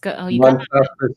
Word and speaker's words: Montaspis: Montaspis? Montaspis, yeah.